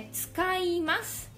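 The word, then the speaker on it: 使います: Tem um ts. Quando a palavra começa com ts, fica um pouco difícil de pronunciar, né, pra gente, pra nós brasileiros. Tsukaimasu. Tsukaimasu. Começa por uma, né, por um fonema que a gente não tem no Brasil.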